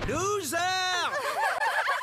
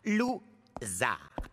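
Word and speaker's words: Lou Zarr: Je suis Monsieur Loser. Mon nom se prononce Zar. Lou-Zar.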